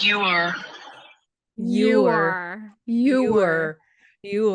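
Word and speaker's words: Joar: It's pronounced you are. Oh, you like it's got a U like a solid. There are no U's in No, it's J O A R. Jore.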